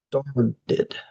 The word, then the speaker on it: started: Okay, so number four, some of my students have trouble making the ST sound at the beginning. So you can treat the S as a vowel. If you have trouble, you can say starred, id, started, started, started.